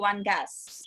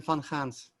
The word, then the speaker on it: van Gaans: Well, was correct, and then Van Gaans. Van Gaans. Yeah, okay. We have the g at the beginning.